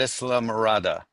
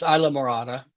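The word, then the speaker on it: Islamorada: Tell us about Islam Marada. Well, it's actually pronounced Isla Marada.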